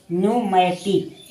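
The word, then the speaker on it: pneumatic: उसी प्रकार देखिए पी एन ई यू एम ए टी आई सी यानी न्यूमेटिक। यहां न्यूमेटिक पढ़ेंगे। यहां क्या है? पी जो है साइलेंट है। पी एस ई यू डी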